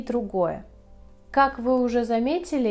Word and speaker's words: друг: Мы пишем друг, но говорим друг.